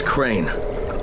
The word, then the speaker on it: Crane: No, my name's Crane. Crane? Crane rhymes with train and brain and sane and grain and rain and plane and the other kind of plane and...